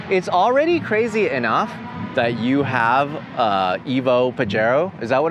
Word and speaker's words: Pajero: It's already crazy enough that you have Evo Pajero.